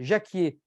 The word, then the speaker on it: jacquier: de la première recette Jacquier J a changé les plans ja C Q u I e r comme Jacques en fait comme le prénom Jacques et Jacques frère Jacques